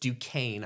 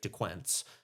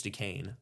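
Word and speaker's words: Duquesne: So, um they start off against against Dukane. I hope I'm pronouncing that right. Even though it looks like Dquent uh I think it's Dukane.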